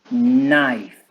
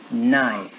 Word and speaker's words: knife: Okay, in this case we have just one, an intelligent knife, knife. Y si es plural, decimos knives, knives. ¿Sí? Como con una V, knives. La K no se pronuncia.